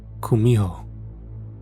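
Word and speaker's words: 구미호: seeks to achieve immortality in Japanese you've probably heard of it as Kitsune though in Korean it's pronounced Kumho what I was sent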